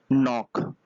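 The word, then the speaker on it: knock: ठीक है अगला बर्थडे नॉक इस विधि के साइलेंट है खटाना हैं या फिर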